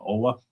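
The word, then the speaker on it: Oweh: Oh, how do you pronounce his last name? Owe. I would say Owe.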